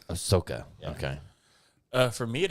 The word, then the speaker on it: Ahsoka: she's my favorite character I really enjoyed the Ahsoka Tano I haven't watched that yet but I